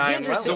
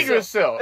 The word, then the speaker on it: Yggdrasil: it's spelled like Yrggigisid-I-S-I-L. Yrggigisid. This is Norse. It's the Nordic tree. Oh, the Yggdrasil. world tree. Yggdrasil, yeah.